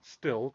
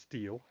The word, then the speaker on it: Stihl: I've always called it Still, but I think it's supposed to be pronounced Steel.